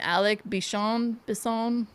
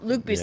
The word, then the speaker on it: Luc Besson: Alec Bisson? I can't ever say his name right. Has never captured the magic in the bottle since this film. Luc Besson. Yeah. Sorry. Okay. Go ahead. Sorry, Luc Besson.